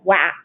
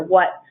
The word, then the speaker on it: what: read it as wat, I might read the other one as was, maybe I would read that word as yow, and the last word, because E typically makes I say a long I sound, I would read that as guive. But we know that those words are what, was, you, and give.